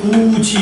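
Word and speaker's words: 굳이: 근데 얘가 발음했더니 구지 이렇게 나죠.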